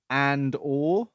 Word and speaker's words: Andor: We'll be talking about the first 3 episodes of Disney's Andor. That is how it's pronounced.